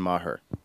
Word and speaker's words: Maher: we were catholic otherwise it would have been mahur yeah right I drove my mother nuts that mispronounced yeah Mah with the H in the